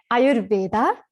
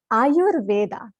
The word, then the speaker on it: Ayurveda: It's a tricky word, and I hear a lot of Ayurveda. We get the R and the U mix.